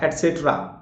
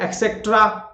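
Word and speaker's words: et cetera: ठीक है, एटसेट्रा, और अक्सर लोग एक्सेट्रा, एक्सेट्रा, एप्सेट्रा, तो इसमें क या प को उच्चारण कर देते हैं, एक्सेट्रा है ना, या एप्सेट्रा। तो क और प नहीं है, एट सेट्रा, एट सेट्रा बोलकर देखिए, एट सेट्रा, एटसेट्रा, एटसेट्रा, एटसेट्रा।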